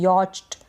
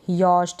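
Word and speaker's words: yacht: यॉट में यॉच्ट इस तरीके से हम नहीं बोलेंगे, यॉस्ट या, ठीक है। तो ये यहाँ पर CH का उच्चारण नहीं होता, ये आपको ध्यान रखना है।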